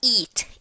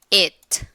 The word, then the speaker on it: it: Não eat. Eat é o verbo comer. Falando de pronúncia, isso aqui é it. É o som do E, não I, ok?